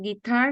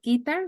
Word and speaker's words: guitar: vocabulary and Andres pronunciation guitar not guitar we tend to say guitar but it's itard the accent comes on the second syllable and we're talking about